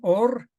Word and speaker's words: Ur: hago bueno hagámosle así está escrito como Ur Ur de los caldeos pero también esto en el hebreo que acuérdense que no tiene vocales y es solo la forma de pronunciar esto en hebreo es también or que significa luz es decir cuando Abraham